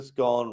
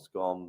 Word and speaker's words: scone: Is a scone rhymes with cons, not scone.